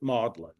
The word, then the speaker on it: Magdalen: Magdalene isn't it but um they uh incorrectly pronounce it modlin so he's appointed to the faculty there and